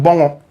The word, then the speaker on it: Bongo: Manas aur comes all the way from Bongo. Correct pronunciation. Bongo.